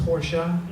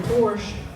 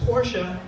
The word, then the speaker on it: Porsche: Sometimes people call me an elitist because I drive a Porsche, which is a ridiculous statement because it's pronounced Porsche.